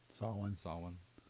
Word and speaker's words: Samhain: Saw one. what everybody knows as Samhain. It's Samhain. It's pronounced Samhain.